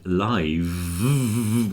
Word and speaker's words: live: with a f yeah life with a f but live with a V is live with a voiced thing the same as alive and it comes from